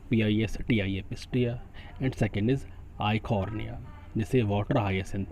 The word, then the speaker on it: Eichhornia: Offset में जो examples include किए गए हैं, first is pistia, PISTIA pistia, and second is आइकॉर्निया, जिसे वाटर हायासिंथ भी बोलते हैं। आइकॉर्निया की स्पेलिंग ध्यान से सुन लेंगे, EICHHORNIA आइकॉर्निया, EICHHORNIA आइकॉर्निया।